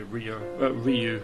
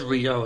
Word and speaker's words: Ryo: Because you know Ryu carries that. This is Ryo, as I say.